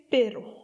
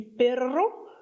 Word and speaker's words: pero: Et le premier d'entre eux, le plus simple, c'est Per. P E R O. Attention, prononce-le bien avec un seul R parce que si tu dis perro, à ce moment-là, c'est le chien.